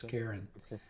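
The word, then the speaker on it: Charun: or cherin or something like like Karen it's Karen uh yeah something all right the figure of Karen stands in the boat holding his ore perfectly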